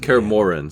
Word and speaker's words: Korin: He often ran away from Korin, though he would always return in Korin. Sorry, I've been pronouncing it wrong.